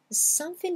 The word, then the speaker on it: something: D'abord, je supprime le G à l'oral. Je ne vais pas le prononcer. Le G n'existe pas.